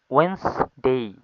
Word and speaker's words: Wednesday: ওয়েন্সডে মিন বুধবার। এটা হবে WEDNESDY ডে, ওয়েন্সডে। ও অন্তস্তিকার এ, নয় শ, ওয়েন্স, তারপরে ডে। ওয়েন্সডে মিন বুধবার।